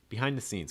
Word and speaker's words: behind the scenes: scenes behind the scenes key thing when you're saying this is you want to stress scenes scenes behind the scenes the behind is usually going to be reduced it's going to be said typically pretty fast so you don't want